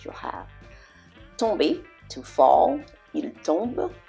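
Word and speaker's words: tombent: Il tombe, same thing. ENT, il tombe. Okay, that T is silent.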